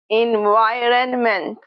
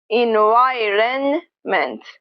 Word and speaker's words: environment: You can also pronounce it with a hold T, ment. Environment, environment.